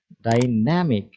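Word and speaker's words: dynamic: খেয়াল করুন শব্দটির উচ্চারণ ডাইনামিক। ন্যা এর উপর বেশি স্ট্রেস হচ্ছে।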